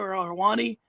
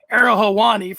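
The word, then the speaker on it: Ariel Helwani: friend of the show arwani and when that's friend of the show era hawani for those who like to pronounce things properly and when the subject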